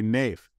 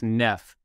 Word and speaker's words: Neef: since you've painted this picture I'm gonna say nafe oh close no it's Neff yeah I always think of it as Neff because I'm like erroneously reading two F's well